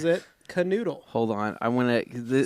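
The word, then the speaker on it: Knödel: Pronounces it canoodle.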